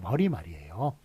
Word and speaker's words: 머리말: 요거 니은이 덧붙으면 사이시오 붙일 수 있을 텐데 우리 발음이 머릿말이 아니라 머리말이에요. 우리 서론 얘기할 때 머릿말이라고 그러죠. 머리말이라고 그러죠. 그 다음에 결론 쓸 때 꼬리말이라고 그러죠. 머릿말, 꼬릿말로 발음하는 거 틀린 발음입니다. 머리말, 꼬리말이에요.